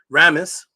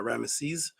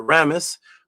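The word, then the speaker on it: Ramesses: Ramis which is the actual real way to pronounce is not Rammeses that came from the Greek but Ramis was known as a Shemuhor.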